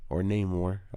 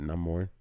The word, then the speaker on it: Namor: deal with Namor, or Namor. In the movie they pronounce it Namor, for Niño Sin Amor, Namor.